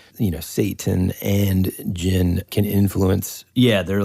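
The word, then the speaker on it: djinn: look up the word Jin and if you're curious listeners there's a couple different ways to spell it one is with a d and in that case the D of course is silent so it's DJ i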